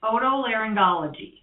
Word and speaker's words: Otolaryngology: and a little bit about your providers it's pronounced Otolaryngology we are the Associates of Otolaryngology which is